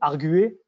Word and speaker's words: arguer: Ou arguer, pareil, qui prend un U et qui passe, enfin, le U est censé se prononcer.